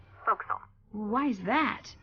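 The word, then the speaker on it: forecastle: ship but it's pronounced fil why is that try pronouncing it like an English sailor with no formal education F Castle folville over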